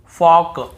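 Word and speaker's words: folk: चॉक चॉक योक योक फोक फोक ऐसे पढ़ना है। कहीं पर भी talk walk चाल्क योल्क फॉल्क नहीं पढ़ रहे हैं।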